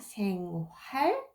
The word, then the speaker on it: 생활: You might have noticed that I pronounce not 생활, but you might have heard 생활 because h right here in the middle of the word hardly pronounce real h right there.